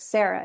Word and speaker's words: Sarah: But the whole story hinges on that difference in pronunciation between the Sara and then the anglicized or the more anglophone Sarah with an H. So you can hear it, Sarah. It's very flat. It's so American the way I say it.